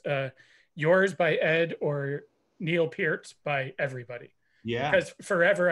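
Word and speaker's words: Neil Peart: so it's i wonder whose name is more mispronounced uh yours by ed or neil pierce by everybody yeah cause forever i i think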